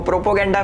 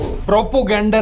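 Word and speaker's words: propaganda: Anti India लिखो, प्रोपोगेंडा फैलाओ, प्रोपोगेंडा फैलाओ। प्रोपोगेंडा नहीं Elvish, प्रोपेगेंडा होता है।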